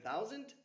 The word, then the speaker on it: thousand: And remember, in thousand, the first vowel sound is similar to towel. And the S is pronounced like Z, as if it were zend, not like send or sand.